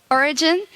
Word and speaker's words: Origen: Well, both ways are fine. Okay. Origen is how you say it in Spanish. So you actually say like if you were a Spanish person, mm-hmm.